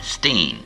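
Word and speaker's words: Berenstain: how was his pronounced she said it was German therefore it's you you start you do the e you know it's Bernstein Steen and later in life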